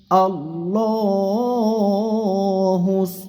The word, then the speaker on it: আল্লাহ: আল্লাহ শব্দের লামকে মোটা করে পড়তে হবে আল্লাহ শব্দের ডানে জবর থাকার কারণে।